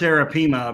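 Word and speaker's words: arapaima: There it's Arapima because the I is said as an E in South America.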